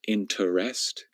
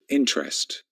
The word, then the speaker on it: interest: Now, I think that most native English speakers would pronounce this word with 2 syllables. Some of them might pronounce it with 3 syllables, interest, but most of us just pronounce it with 2 syllables.